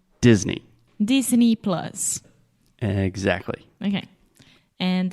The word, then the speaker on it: Disney: money Miki money yeah Mickey like Mickey Mouse yeah so e at the end Disney Disney plus exactly okay